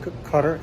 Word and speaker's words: Qatar: to Singapore everything from Qatar Airways which I believe is pronounced cter Airways all the way down